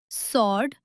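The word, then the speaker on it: sword: इसके अलावा answer, सॉर्ड और टू में भी डब्ल्यू साइलेंट रहता है।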